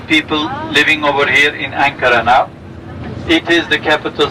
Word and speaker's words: Ankara: Even the elderly people of the town still call this city Angora instead of Ankara, the way we pronounce it now, Ankara. We have about 3.5 million people living over here in Ankara now.